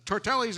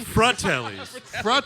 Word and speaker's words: Fratellis: Because I'm watching the movie today, and I'm like, oh, so the Tortellis are walking in. Those are the 2 brothers. Oh, no. Was that, did I say it wrong? Fratellis.